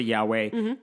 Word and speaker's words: Yahweh: In the translation, don't ask me about the specifics, but basically we pronounce it Yahweh, and Jewish people don't say it because you're not supposed to say God's name.